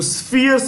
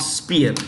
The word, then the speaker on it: sphere: You know, most Europeans had cut China into parts, into spheres of influence. Sphere, S-P. Sphere. It is pronounced with an F. Okay, not spear, sphere.